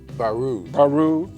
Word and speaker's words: Baroud: How do you pronounce his last name? Baroud.